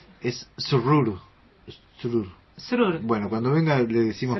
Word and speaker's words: Srur: ¿Cómo se pronuncia tu apellido? Zurdur.